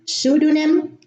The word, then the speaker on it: pseudonym: In English, the P is silent at the beginning of the word: psychology, psychiatry, pseudonym, and pneumonia.